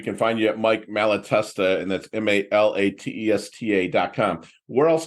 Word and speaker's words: Malatesta: It's kind of cool how it flows. Malatesta. It's how many vowels are there? Malatesta, like 4 vowel or 4 syllables in it.